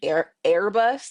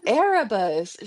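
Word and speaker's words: Arbus: words on the page, she kept saying Airbus, like A R B U S. I'm like, who's Airbus? Oh, Arabus. She's like, oh, is that how you spell it?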